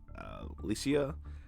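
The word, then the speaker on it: Alasia: You also have Empress Alicia, and that's how you say it.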